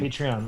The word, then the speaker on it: Patreon: Well, like Well, it's think of the word patron. yeah, Right. And Patreon.